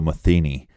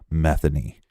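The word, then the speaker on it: Metheny: look up some reports they will say Joe methi but it's actually Joe methany yeah we got that from local Baltimore reports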